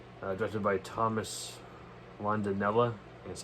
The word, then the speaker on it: Rondinella: Directed by Thomas Rondinella.